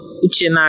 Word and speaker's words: Uchenna: My name is Uchenna.